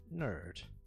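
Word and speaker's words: N.E.R.D: Is it Geek, Dork, Nerd?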